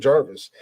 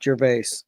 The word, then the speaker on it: Gervais: Well, it is, but my family pronounces it Jarvis, or as Glick does, it's Jaravishi. Jaravishi. Makes it sound like a really shitty TV set. Nope, Like like, the the comedian Gervais. Yeah. And I'm pronouncing it as is Gervais. Well, you can pronounce it that way, but it's Jarvis.